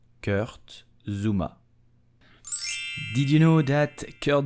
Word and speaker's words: Kurt Zouma: So how do you pronounce his name correctly? You will say Kurt Zouma. Kurt Zouma. Kurt Zouma.